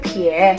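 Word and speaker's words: 撇: Dibacanya pie, kayak kamu nulis koma dari atas ke bawah.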